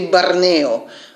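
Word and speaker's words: Barneo: j'ai oublié de vous dire qu'elle s'appelle bornéo prononcé barney en russe et voilà ça c'est typique de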